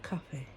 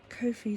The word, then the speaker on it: Ko-fi: Can we just call it coffee? Ko-fi sounds ridiculous. Sorry guys. I know it's supposed to rhyme with no fee.